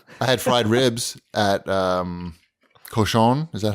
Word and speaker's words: Cochon: I had fried ribs at Cochon.